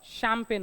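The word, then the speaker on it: champagne: मग त्याला आपण काय म्हणतो शामपेन काय म्हणतो शामपेन असं म्हणतो म्हणजे स्पेलिंगचा आणि उच्चाराचा दुरून-दुरून असा काही संबंध नसतो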